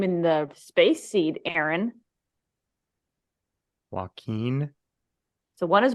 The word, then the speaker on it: Joaquin: Joaquin. So one is Joaquin, one is Joachim with an N to an like. So the original was Joaquin, like Joaquin Phoenix, spelled the same way.